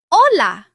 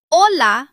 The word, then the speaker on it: hola: The Spanish H is normally silent. You see the letter, but you do not pronounce it. For example, hola. Hola means hello.